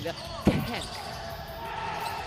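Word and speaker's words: Khenth: I think we have to pronounce it properly. Kent.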